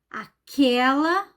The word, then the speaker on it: aquela: ah veio falar comigo aquela a pronúncia é aberta é então não temos